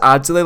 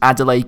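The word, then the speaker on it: Adelaïde: I feel like I just pronounce it as Adelaide, like the city in Australia, so I'm just going to refer to him as Reine Adelaide.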